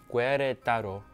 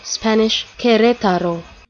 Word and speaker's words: Querétaro: Querétaro. Down. I agree. No.